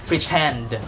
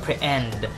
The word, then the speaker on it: pretend: Like, for example, PRETEND. Okay? So, TEND (stressed syllable). It is in the emphasized part of the word. "pre-TEND" .. Not "pre-End" - doesn't sound good. - "pre-TEND." So it's still aspirated.